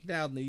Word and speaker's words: Dowdney: How do we pronounce it? Dowdney? Dowdney, yeah.